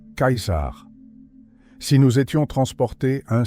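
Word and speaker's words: Caesar: Par exemple, dinner qui signifie prix se prononce avec un ts et le nom du grand César de cette époque sonnait plutôt comme Kaisar.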